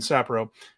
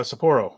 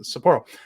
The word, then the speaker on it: Sapporo: two night event in sapro uh Sapporo why do I keep saying that you put the emphasis on the wrong syllable there uh Sapporo uh on the fourth